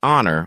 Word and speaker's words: honor: and boost your confidence words like hour honest and honor often trip people up remember the H is silent practice saying an hour